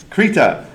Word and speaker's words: Krita: Uh, we were talking earlier about how is it pronounced and it's pronounced kittita and I know this cuz I hung out at the booth with the lead developers for a long time.